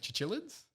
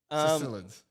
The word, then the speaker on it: cichlids: Chichilids? Cichlids.